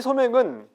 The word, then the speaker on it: 소맥: 그래서 그 단어의 그 용법에서 그런 것들을 확인할 수가 있는데 거기에 이제 서민들은 소맥, 사실 소맥이라고 쓰고 실제 발음할 때는 소맥이라고 발음을 하죠. 그래야 더 맛이 사는 것 같아요. 이 소맥은 비싼 것도 아니고 그